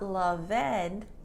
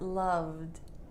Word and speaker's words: loved: d sound for example love is not love ed but loved loved a maze is